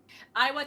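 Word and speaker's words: Iwao: person was probably um i butchered his first name all the time because it's weird it's i-a-o-w or i-o-a-w it's iowa iwa takamoto who is most known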